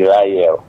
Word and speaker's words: Lael: Imerea ndadzuka bwino, dzina lo pronunciation timati Lael. So it's Senior Superintendent Lael.